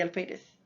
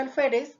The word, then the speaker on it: alférez: Y la palabra alférez también es una palabra grave o llana o paroxítona porque tiene la mayor intensidad en la penúltima sílaba y está terminando en consonante Z.